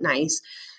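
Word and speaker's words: gneiss: the bottom is um nice i know it's spelled with a g but you pronounce it nice then coal then silt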